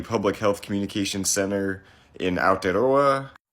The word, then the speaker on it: Aotearoa: it's by the public health communication Center in aloa ALA that's how to pronounce it better um this is a group